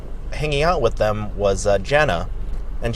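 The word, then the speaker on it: JVNA: So Jana, it's spelled, because she's a DJ, it's spelled J-V-N-A. She flipped that, you know, second A upside down like an asshole.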